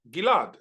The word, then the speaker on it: Ghil'ad: My name, Ghil'ad, is pronounced Ghil'ad, as if I was related to Julia Ghil'ad, God forbid.